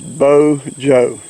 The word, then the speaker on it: Bojo: but his name is Bo Joe it's bojo but it's pronounced bo and then joke bojo these are supposing he's